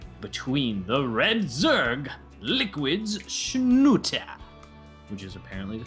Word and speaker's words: Snute: today a game between the red Zerg liquids schut which is apparently the correct pronunciation and his opponent in the lower left